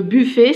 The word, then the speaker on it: buffet: Je vous oublie le buffet. Ça se termine avec ET. Et ET à la fin du mot, je prononce E.